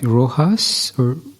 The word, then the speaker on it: Rojas: before I go ahead am I pronouncing your name right Rojas yes perfect yeah okay yeah I